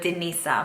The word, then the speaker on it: Danessa: A lot of you guys actually sent me in messages on Instagram of how to pronounce Danessa Myricks. So you guys just said it's like Vanessa, but Danessa.